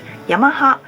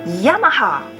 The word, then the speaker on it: Yamaha: as an automobile manufacturer while Japanese people pronounce it Yamaha English speakers often pronounce it Yamaha why so dramatic because